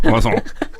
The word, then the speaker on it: croissant: I just like how many letters there are in the word croissant and how few letters you actually said when you pronounce it. Croissant.